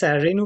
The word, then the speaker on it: Renu: i will go to renew i hope i pronounced that correctly yeah that's right uh my name is renu and uh the